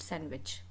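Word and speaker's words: sandwich: Basically D भी इसमें silent होता है. सैंडविच we call it सैंडविच.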